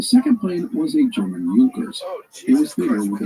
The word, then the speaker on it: Junkers: By the way, the plane's manufacturer was a German aviation company, Junkers. If you see the spelling, it looks like Junkers, Junkers, but it is pronounced Junkers.